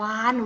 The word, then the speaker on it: วาฬ: คำ กัน เลย นะ คำ แรก คือ คำ ว่า วาฬ วาฬ ตัว นี้ จะ กด ด้วย รอย จุฬา ซึ่ง อยู่ ใน มาตรา ก้น ก็ เพราะ อะไร เพราะ ออก เสียง ไหม มี หนู เป็น ตัว สะกด นั่น เอง นะ คะ ดู สังเกต อยู่ ที่ การ เขียน คำ อ่าน นะ เห็น ไหม เหมือน มี นอ หนู เป็น ตัว สะกด นะ คะ